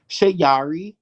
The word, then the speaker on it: Shayari: and um i love doing music you can find me at shayari that's my stage name um i changed my name to shiyari because shayari means poetry in swahili and i